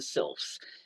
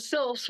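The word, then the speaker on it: sylphs: the best time with would have been the sils and and that's spelled s y l phs They are, everybody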